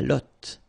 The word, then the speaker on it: lotte: And then la lotte. Final E not pronounced.